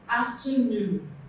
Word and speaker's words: afternoon: Examples, afternoon. Noon is stressed.